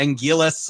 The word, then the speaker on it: Anguirus: different pronunciations, but yeah, Angillis, I've always stuck with the L, but I'm also old school with that because that Gan.